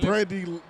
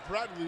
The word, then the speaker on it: Bradley: I think that was a punt, Tyler, with Brandley Lewis. I didn't know if we were playing football, kickball. It wasn't basketball. Excuse me, Bradley Lewis mispronounced his name.